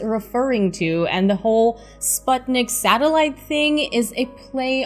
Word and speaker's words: Sputnik: just being difficult and resisting the americanized pronunciation of sputnik it has a specific meaning in the russian language it means companion as